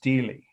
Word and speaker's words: stela: Okay, Stela is pronounced Steli, believe it or not, in English. Of, and I'll spell Hammurabi's